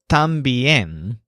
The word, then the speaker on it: también: he uses the word también which means also so notice this word has the stress on yen but it has the unstressed syllable Tom so también these three words